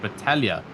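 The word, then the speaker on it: Battaglia: No, there's actually no pronunciation of the G's or the T's. It's just Battalia.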